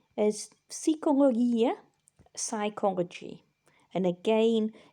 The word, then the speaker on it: psychologia: Number 3 is psychologia, psychology. And again, in modern Greek, the G is more like a Y sound. In ancient Greek, it's a hard G sound.